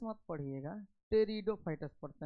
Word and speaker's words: Pteridophytes: टेरिडोफाइटस जो लिखा हुआ है ना, उसमें पटीरोडोफाइटस मत पढ़िएगा, टेरिडोफाइटस पढ़ते हैं, पी साइलेंट रहता है।